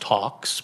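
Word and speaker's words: Talx: Equifax Workforce Solutions and it's pronounced Talks by the way t-a-l-x talks um I don't know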